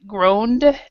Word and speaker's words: groaned: So the E is silent, groaned, E is silent, grumbled, E is silent.